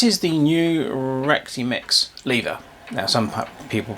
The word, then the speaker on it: Lieva: Right, this is the new Rexy Mix lever. Now, some people pronounce it lever. It's L E I V A, I think, spelled. But um most of the people on YouTube are pronouncing it as lever.